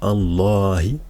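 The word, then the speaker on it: الله: trait c'est pour dire qu'il y a une prolongation parce qu'on dit Allah vous voyez que c'est on dit pas donc là il y a une prolongation donc elle s'écrit pas mais on la prononce et si je vais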